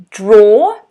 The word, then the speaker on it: draw: this is a noun draw it's like a door okay a door same or sound but draw with an r draw and it's an